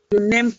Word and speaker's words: Je n'aime: So what's the correct pronunciation? Je n'aime pas.